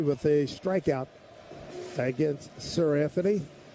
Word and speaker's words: Seranthony: Judge 2 for 3 with a strikeout against Sir Anthony. First name is spelled Seranthony.